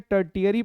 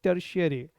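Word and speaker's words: tertiary: Pronunciation पर जरूर ध्यान देना, बहुत लोग इसको गलत पढ़ लेते हैं, टर्टियरी पढ़ लेते हैं। This is नॉट टर्टियरी, this is टर्शियरी।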